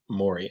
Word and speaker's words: Morey: blizzard pr was like by the way it's pronounced mori and i was like